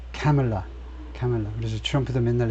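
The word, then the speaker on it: Kamala: 이름은 앞에 엑센트를 돼야 된다는 거죠 그래서 예 카멜라 카멜라 그래서 트럼프도 맨날 애 먹는게 이걸 자꾸 말라 말라 이렇게 발음을 하니까 미국 사람들이 이제 민주당 쪽 지지자들은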